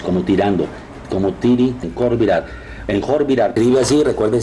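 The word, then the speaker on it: Khor Virap: A Tiritades, como tirando, como tiri, en Jorvirar, escribe así, recuerden, se pronuncia con J porque la KH me forma J. En Jorvirar, que es Jorvirar, que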